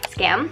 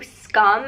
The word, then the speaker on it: Skam: time today's video is scam i got a comment on my last video saying that i pronounce it wrong and i know i do scum is the proper pronunciation but i feel like